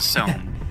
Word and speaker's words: Somme: It's pronounced a Somme, but, you know. More like the Psalms.